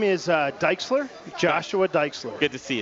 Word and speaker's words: Diexler: you say your last name my name is dike slur Joshua dikes good to see you Joshua thank